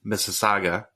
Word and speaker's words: Mississauga: assume a room would be like this in Mississauga. Pronounced it right again.